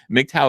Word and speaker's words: MGTOW: who aren't who just hearing me say it mow is actually it's the phonetic pronunciation it's MGT W and it stands for